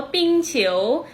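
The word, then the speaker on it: 冰球: ออก เสียง ว่า ตะปูชิ๋ว และ ฮอกกี้ ค่ะ ออก เสียง ว่า ปิ้ง ฉิว เล่น ฮอกกี้ นะ คะ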